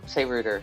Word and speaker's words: router: it to himself a router is for doing wood how is it that Australians and Americans say router and and brick say Rooter that's so weird it's